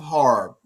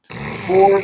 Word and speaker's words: horror: At least you said it right with 2 syllables. I'm trying. I'm from Baltimore. Horror, horror, same thing. Both of them scary. That's true. It is one of the hardest words to say without saying whore.